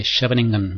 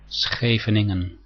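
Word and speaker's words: Scheveningen: to C3 and E6 this is the so-called scening variation now this is mostly not correctly pronounced most people say shingan variation but the correct pronunciation in Dutch is scening so now let's continue with our exercise I'm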